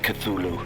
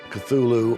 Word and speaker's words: Cthulhu: There lay great Cthulhu and his hordes, hidden in green slimy vaults,